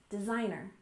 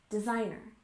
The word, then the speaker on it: designer: next we have designer with stress on the second syllable designer designer and this usually refers to